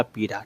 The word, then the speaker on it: पीड़ा: ये वाला पीड़ा। ठीक है? तो सही उच्चारण जो है पी है जिसमें र की आवाज नहीं बल्कि र बिना बिंदी वाले की आवाज जो है आपका यहां पर आता है।